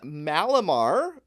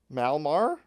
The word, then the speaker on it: Malamar: We got Mega Malamar or Malmar. We're just going to take that A right out of there. Yeah. Malamar.